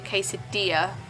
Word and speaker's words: quesadilla: a quad is actually if you pronounce that Spanish it be quesadilla cuz 2 L's is a y so I've been saying